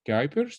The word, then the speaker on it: Kuipers: you can hear so my name is kuipers that's how you pronounce it if it were an english name